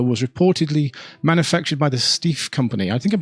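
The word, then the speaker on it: Steiff: the doll however was reportedly manufactured by the steve company i think i'm pronouncing that right s-t-e-i-f-f of germany purchased by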